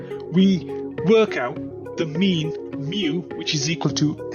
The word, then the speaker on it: mu: work out the mean mu which is equal to n multiplied by P so remember this symbol here is a Greek letter and we pronounce it as Mu and this is the